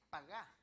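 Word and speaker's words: פָּגַע: En la palabra cargó, en el verso 6 de Isaías 53, la palabra en griego es, en hebreo dice pagá. Es paga, pero con acento en la segunda A.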